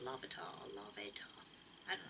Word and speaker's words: Larvitar: looking well designed lavator i love atar it's pronounced lavator i love it i